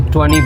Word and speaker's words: twenty: लंब 20 कहते हैं ये 20 नहीं ये गौर से सुनो तो 20 बनता है। इसमें टी साइलेंट 20 के बजाय बोलेंगे 20 20 सिर्फ 20 ही नहीं बल्कि 30 को हम टी जो साउंड है वो डी में चला जाएगा।